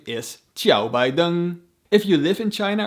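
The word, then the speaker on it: 拜登: pretty neutral characters to write down their names phonetically in china this man is not called joe biden his name is chiao baidung if you live in china or spend any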